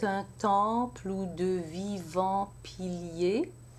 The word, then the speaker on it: piliers: So I have piliers in 2 syllables. Piliers, because I only need 2 syllables to complete my full 12. But if I had this word in a different context where I needed an extra syllable to complete the line, then I could also say pilier in 3 syllables, but I don't need that here.